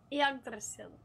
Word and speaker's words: Yggdrasil: The YGG is pronounced like egg, but if you lived in Africa, like a certain part of Africa, so it would be like Yag.